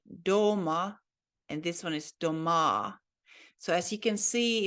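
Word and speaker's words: дома: This one is doma, and as you can see, it has the emphasis on letter O. So that means at home. Ja doma, I'm home. But if you put the emphasis on the last syllable on letter A, then it changes the meaning into houses. It is a plural of a house then. It is said doma.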